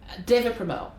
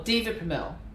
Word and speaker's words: Deva Premal: Deva Premal, or Deva Premal, depending on where you come from to how you pronounce it.